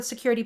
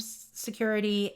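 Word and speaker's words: Sucuri: all-in-one security I them security and security which is spelled s uu r i so it's not security it's security and my team uses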